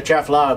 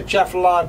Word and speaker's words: Atchafalaya: And if you're local, you probably just eliminate the ah. You just say, I'm going to Atchafalaya Basin.